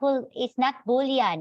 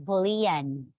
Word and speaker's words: Boolean: Sabi, it's not Boolean, it's Boolean. Medyo nakakatawa, no? Pero yun talaga yung pronunciation niya.